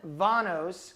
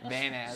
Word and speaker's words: Vanas: We have Dylan Vanos, correct? Am I saying it right? Yeah. Yep. It's Vanas, right? It's so funny because in the U.S. and in Canada we say harder A's.